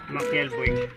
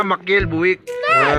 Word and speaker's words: Machiel Buijk: bu buj Ayan ano ba Ong ano nito pronunciation nito boss mael buk Ah maiel buk yun yung pronunciation pala nito Ayan Tapos ito